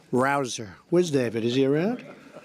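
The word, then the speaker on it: Rouzer: nice David Rosa hey you know how you pronounce it rabble rouser you go David rouser where's David is he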